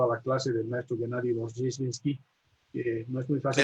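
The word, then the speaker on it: Gennady Rozhdestvensky: Y luego tuve la enorme suerte de haber sido asignado a la clase del maestro Gennady Rozheshinsky, que no es muy fácil Eso de usted lo pronunciar, pronuncia bien, yo ¿no?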